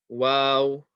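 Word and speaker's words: و: Moving on, this next letter here is wow, wow, wow. And as you can see, it's kind of like a W sound.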